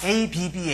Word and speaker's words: abba: 말한 것 은 예수님이 근데 아람어로 아빠가 abba 입니다 똑같죠 또 다르게 편 할땐